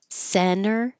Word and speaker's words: center: Center, we drop that T because the T after the N in the unstressed syllable can disappear because when I put my tongue up for the N, center, I'm just not releasing center. Center, I'm just pulling it back without releasing the airflow.